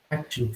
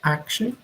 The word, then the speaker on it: action: So, action films. A gente pode pronunciar action, que é uma pronúncia mais próxima do britânico. Ou a gente pode falar action, mais próxima do americano.